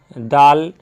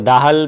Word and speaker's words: Dahl: जो ऑथर हैं रोआल्ड डाल, तो उनके बारे में हम लोग थोड़ा सा जान ले, है ना। वो दाहल भी कह सकते हैं लेकिन इट्स साइलेंट है, रोआल्ड डाल।